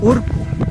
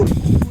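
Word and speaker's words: urku: El volcán o el cerro que está a mis espaldas en quichua es urcu, U-R-K-U, urcu, ¿sí? Tal como estoy pronunciando, U-R-K-U, urcu.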